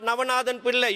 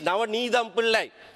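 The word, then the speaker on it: Navanethem Pillay: She is Navanidham Pillai, not Navanathan Pillai.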